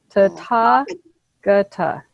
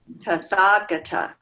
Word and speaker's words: Tathagata: So the first syllable is Tathagata. ta, and then ta, which is stressed. That's where the accent is. Tathagata. Tathagata. Okay. So that the H isn't pronounced. It's just an accent letter.